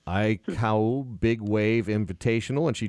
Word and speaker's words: Aikau: Aikau. You pronounce all the letters, essentially.